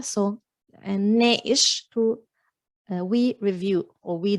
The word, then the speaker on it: ناقش: ناقش in standard, but in Lebanese the qaf often becomes a hamza, so ناقش to we review or we discuss.